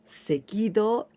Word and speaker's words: 赤道: Here we pronounce seki, okay? Seki, the red, do, this is like a path, street. Sekido, the equator.